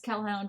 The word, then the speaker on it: Kelhound: I'm also on Twitch as Kel McDonald, and I'm on Twitter as Kelhound, which is spelled like Hellhound, but with a K.